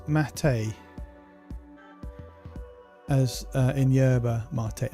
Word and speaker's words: mate: Pronounce mate as uh in Yerba.